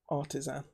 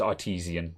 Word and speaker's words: Artesian: I've only just realised that it's not Artisan. Yeah, it's Artesian.